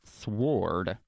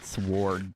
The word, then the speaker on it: sword: And also, speaking of sword, why is there a W in it? I mean, you would think that it would be spelled, or not spelled, pronounced sword, but nope. Although, you could pronounce it sword to be funny.